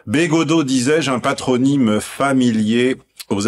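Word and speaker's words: Bégaudeau: B, le B est devant. Go, le G est au fond. Do, devant, hein, il y a un peu un va-et-vient quand on prononce son nom. Bégodeau, disais-je, un patronyme familier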